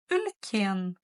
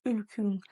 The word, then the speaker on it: үлкен: «Ülь», «ülken», «ülken», ударение на «е». Часто в Казахстане вы можете услышать не «ülken», а «ülkün».